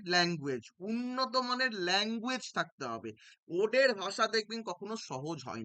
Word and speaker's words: ode: কি ওড কাকে বলে অনেকে উচ্চারণ করে অট কিন্তু মোটেও না এটার উচ্চারণ হচ্ছে ওড so what is অ্যান